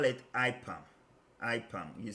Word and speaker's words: IPAM: called ipam okay so this is the way we pronounce it you shouldn't pronounce it what you gave me but this is how we call it we call it ipam and then we will